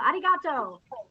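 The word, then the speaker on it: ありがとう: it is 7 59 Arigato no don't roll your tongue arigato you need to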